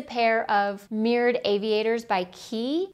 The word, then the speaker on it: Quay: of mirrored aviators by Key. It looks like Quay, but it's pronounced Key.